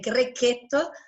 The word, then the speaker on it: Grechetto: grape of Umbria, the Grechetto. Please try to remember the right pronunciation. I'm trying. In Italian, we say when there is a CH, Grechetto, not Grechetto, even if all over the world people say Grechetto.